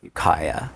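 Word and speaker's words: Ukiah: Uh, and then in junior high, I was in to answer your question before that you pronounced that town's name, Yukaya. Ukaya. Ukaya.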